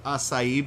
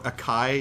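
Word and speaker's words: açaí: how they talk about the acai berry or Akai if you don't know how to pronounce it how people were kind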